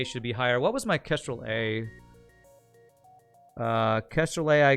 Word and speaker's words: Kestrel: do you spell that it's kestrel not castrol that one had three